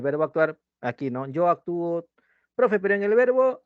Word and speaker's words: actúo: Porque si tú dices yo actúo, por ejemplo, yo te digo yo actúo, ¿sí? Yo actúo. ¿Lleva tilde o no lleva tilde? Yo actúo. ¿Lleva o no lleva tilde? No. No. Actúo. ¿Lleva tilde? Sí. Claro que lleva tilde. ¿Actuó? No, yo te he dicho actúo. Yo actúo. Yo te pregunto, ¿en la raíz hay tilde del verbo actuar?